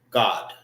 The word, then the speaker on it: Gad: And how you say Gad in the Hebrew? God. Not G-O-D, but God. God. Duh. God. Duh. Get it? God. All right. G-O-D is God. When you pronounce this, it's God. And then you end it with the D sound.